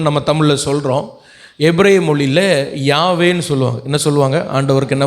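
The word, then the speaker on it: Yahweh: யாவே அப்படின்னா எபிரேய மொழியில் இப்படி தான் சொல்லணும், கரெக்டாக சொன்னான்.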